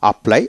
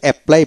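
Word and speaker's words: apply: প্লাই আপ্লাই আমরা আসলে এপ্লাই বলি কিন্তু না আ্লাই আপ্লাই আলা্লাই আবেদন করা আপ্লাইড আপ্লাইড এভাবে উচ্চারিত হবে একটা যেখানে ডাবল লেটার পাবেন সেখানে একটা লেটার উচ্চারিত হবে তারপর সিনক সিনক অস্ত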